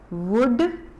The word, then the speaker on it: would: Next line की है, आई वुड फ्लाई so high. Again I वुड, इसमें एल जो है साइलेंट है, एल की आवाज हम नहीं बोल रहे, WOULD, वुड नहीं बोल रहे, वुड।